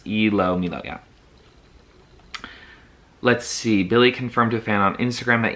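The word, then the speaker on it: ilomilo: replied to Fan okay the tracks title is pronounced ELO Milo yeah let's see Billy confirmed a fan on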